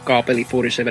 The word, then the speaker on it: Kaapeli47: Well, I'm Kaapeli47, or Kaapeli47 as it's just pronounced in Finnish, and I'm a Finnish